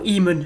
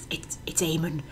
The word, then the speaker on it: Eamon: Or Eamon, as they call him in the game, but it's Eamon. If you're going to use a Celtic name, at least pronounce it properly.